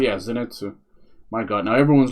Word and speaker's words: Zenitsu: It's like um is it Zenitu? Yeah, Zenitsu.